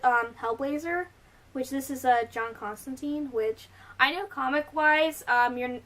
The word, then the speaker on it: Constantine: which this is, John Constantine, which I know comic-wise, it's actually not pronounced Constantine. If I remember correctly, it's Constantine, he says in the comics, but, like, everyone says Constantine.